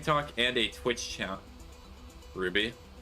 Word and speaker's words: RWBY: Ruby, I'm sorry I pronounced it by the letters that are there. It's RWBY. Also, I'm glad to see that my rage baiting is finally working.